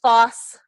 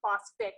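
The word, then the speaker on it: phosphorous: And remember, phosphorus is like sulfur in that you add back a syllable, so it's phosphorus acid. I goes to us, and with phosphorus, you add in that extra syllable. Phosphoric, phosphorus, not phosphic and phosphorus.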